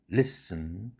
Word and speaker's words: listen: button, cousin, beaten, open, often, oven, student, sudden, cotton, listen, seven, dozen, organ, prison.